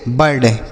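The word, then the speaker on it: bird: आई का उच्चारण अ हो गया तो इसको लिखेंगे नहीं मतलब यह साइलेंट रहेगा। आर से र और डी से ड तो इसे पढ़ेंगे बर्ड।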